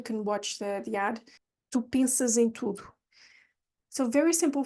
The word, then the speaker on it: pensas: is to remember to pronounce that S in the middle or at the end of pensas as a Z, because you have a vowel following it. So it's a an S between two vowels.